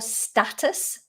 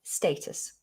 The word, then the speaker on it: status: the word status status in american english i think this is more status status but in british english we say status status okay what else do